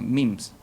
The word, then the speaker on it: memes: Era como su símil, por eso en realidad memes se pronuncia memes, que es como el paralelo a jeans, ¿ya?